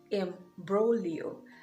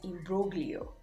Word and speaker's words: imbroglio: vocab spot is imbroglio m bro leo now i used to pronounce this as in broglio but now wow this is another silent letter g another word where the letter g is silent i just realized now